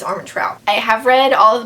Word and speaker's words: Armentrout: you say harmon towel i think it's arm and trout i have read all